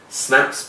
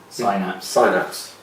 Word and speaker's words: Synapse: I think it's Frozen Snaps Prime? Synapse.